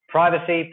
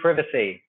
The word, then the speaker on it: privacy: Privacy, privacy. Remember, there are 2 pronunciations.